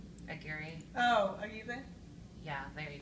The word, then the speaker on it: Aguirre: I Want It That Way by Anne I always say her last name wrong. Anne Wire. Aguirre.